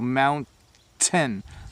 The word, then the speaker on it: mountain: pronounce the word so mount 10 my tongue is just behind my teeth and at the roof of my mouth mount 10 mount 10 eat 10 so my tongue